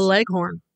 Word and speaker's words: Leghorn: breed spotlight is the leghorn the legono or the legend yes in certain regions of the country it's pronounced all different ways but it's the same